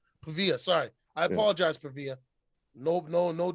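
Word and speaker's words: Paiva: Pavera? Pavia.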